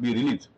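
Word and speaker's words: brelse: bget, bread, bwrite, and breels. Brelease, actually, it's spelled as rels, but it should be called brelease.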